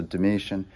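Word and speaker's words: Domitian: 90s comes the mission it's spelled with a t t i a n is how you end his name so like d-o-m-i like dominoes but then t-i-a-n so dimitian and one of the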